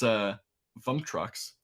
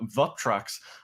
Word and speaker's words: Vuptrox: Unfortunately for Vuptrox, I've been pronouncing it incorrectly. I was putting in an added M for no apparent reason. I have it written down as Vuptrox, so my bad on that. Vuptrox, unfortunately, do not win